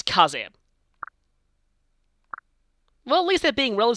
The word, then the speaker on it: Kaze: Also, yeah, please don't pronounce this as K's. It's Kaze.